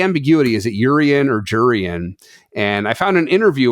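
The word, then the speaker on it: Jurrien: what I'll stick with I do remember hearing at some point it was jurian you pronounce the j we I suppose that we sort of said yurian for a while like in Dutch in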